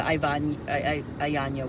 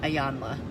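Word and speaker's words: Iyanla: Like, what's the Ayanya one? Ayanla. Man, I got her name wrong 3 times.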